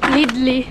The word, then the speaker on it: Lidl: muna kami ni Sam sa lid L all lid yung pronunciation nila dito lidl eh lid DD wala